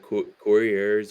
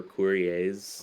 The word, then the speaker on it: Courier: So there's kind of like two ways, Yeah, but it's like couriers or couriers, Courier, whatever you want. Couriers. It's like mailman, like the courier's mailman thing.